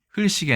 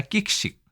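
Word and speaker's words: 喫食: 그래서 흘사반이 아니라 끽사반, 그 다음에 흘식이 아니라 끽식, 흘련이 아니라 끼견, 라고 읽어야 된다.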